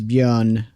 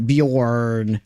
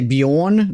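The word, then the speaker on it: Björn: And you don't really pronounce the R. So it's it's bion because it's always very obvious in the American bjorn with a R, but you don't pronounce the R.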